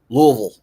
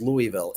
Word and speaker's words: Louisville: we were here from Louisville. They're like, they said it weird. Like it's not I thought it was Louisville. It is Louisville. But if you're from Louisville, they pronounce it Louisville.